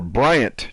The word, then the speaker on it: Bryant: so you're tracking no look for bryant not brian look at how my name is spelled sammy that's why a lot of people like yo i can't find your website because you're typing brian my name's not brian it's like you're you